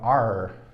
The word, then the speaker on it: are: Cuidado que a gente nem pronuncia esse E aqui, tá? A gente para no R, ó, are, are, are.